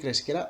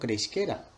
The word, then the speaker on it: cresquera: Tot i que la resposta correcta ja sabríeu que és esta, cresquera, la pronúncia recomanada d'este verb, d'este imperfet de subjuntiu, pot ser cresquera o creixquera.